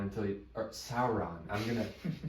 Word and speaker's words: Sauron: that dildo has is the the Ring of Saron until Sauron I'm gonna it's gonna take me forever to